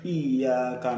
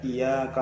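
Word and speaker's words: إِيَّاكَ: Kemudian yang paling utama ditasydidkan yaitu pada ayat iyyaka na'budu wa iyyaka nasta'in. Ini wajib ditasydidkan, karena ini kalau tidak ditasydidkan, dibaca iyyaka na'budu wa iyyaka nasta'in, ini akan merubah arti, bahkan bukan tidak sah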